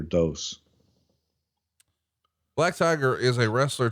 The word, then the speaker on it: Dos: And according to the correct pronunciation would be Black Tiger Dos.